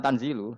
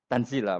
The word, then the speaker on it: tanzila: Ya karena Imam Suyuti baca tanzilu sehingga dia nerkepnya mubtada'. Tapi kira kita akan baca apa? Tanzila.